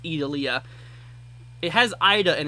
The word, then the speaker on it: Idalia: I think it's pronounced Idalia.